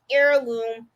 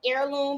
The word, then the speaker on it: heirloom: And they're called the Heirloom blankets. I think I said it right. I keep saying heirloom, but I think it's Heirloom. Somebody told me air, like the H is silent.